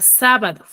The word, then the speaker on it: sábado: Tenemos la palabra sábado. Sábado, por ejemplo, ¿cuál es su sílaba tónica? Sa.